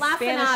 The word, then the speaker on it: lacinato: We looked up the pronunciation. The guy was Lacinato.